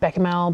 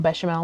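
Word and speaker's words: béchamel: So, what I think I might do is cook up some beckamel, bashimal, whatever you want to call it, however you want to pronounce it, depending on which region you're from.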